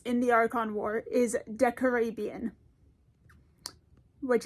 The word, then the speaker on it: Decarabian: the Archon War is Decarabian. Which, as I say it feels wrong, but that seems to be the correct pronunciation as far as I can tell, so we live with it.